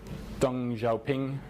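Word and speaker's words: 邓小平: in that community and another Chinese saying from dong Zhou ping I think I may be pronounced in no time across the river by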